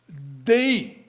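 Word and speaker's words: δεῖ: Le mot fala euh fallait en grec, c'est di pas bien compliqué là, mais c'est prononcé quand même. Di, hein, qui fait référence à ce qui est requis pour atteindre un but ou un objectif.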